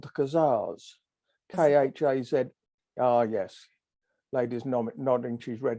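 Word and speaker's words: Khazars: people called the kazars k-h-a-z ah yes ladies nodding she's read it as well now I know that it's pronounced hazardous ah khaza more or less yeah um uh the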